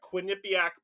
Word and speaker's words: Quinnipiac: see kamla Harris got away with a a Quinnipiac pull I'm finally saying it correctly if you